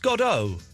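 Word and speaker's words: Godot: I I thought it was pronounced Godo. Well, I've always pronounced it God.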